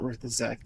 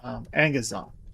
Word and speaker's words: Angazon: It's the demon's name is not Ruthazek. The demon's name is Angazon.